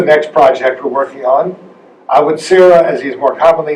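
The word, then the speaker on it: Awa Tsireh: this is the next project were working on I would Sarah as he is more commonly known I would see day as his name is pronounced in Samuel DiFonzo language was the most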